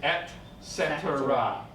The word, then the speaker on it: et cetera: Okay, now this one here is et cetera. Et cetera. But we just say etc.